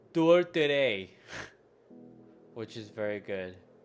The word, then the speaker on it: tourtière: But in Quebec, we have specific dishes called tourtere, which is very good. Sounds French. Here, I'm gonna learn how to say that. Don't worry. I'm not ignorant like that, okay? pie, It's called pie. tourtière, Tourtière.